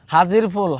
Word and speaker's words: হাজির ফুল: এটাই হচ্ছে আমাদের সেই বিখ্যাত আজির ফুল। আচ্ছা এটা কি আজির ফুল না হাজির ফুল? হাজির ফুল, হাজির ফুল। ও আচ্ছা, তাহলে আমরা উচ্চারণে ভুল করি।